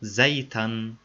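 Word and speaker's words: زيتًا: Without al-at-ta'rif, fatha is converted to tanween al-fath at the end of the noun and pronounced zaytan.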